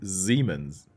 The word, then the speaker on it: Siemens: word over a syllable we pronounce it like Zed not like s so it is Siemens and it's called Siemens